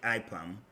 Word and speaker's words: IPAM: called ipam okay so this is the way we pronounce it you shouldn't pronounce it what you gave me but this is how we call it we call it ipam and then we will